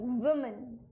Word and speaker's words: women: VU, women. What is it? Woman. And here, when it is plural, it is pronounced as women.